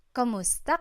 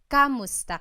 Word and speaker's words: kumusta: you in Tagalog, it's Kumusta ka? Kumusta ka? So it's spelled K-U-M, kumusta ka. But sometimes you might hear some people say kamusta ka, like it's a K-A sound.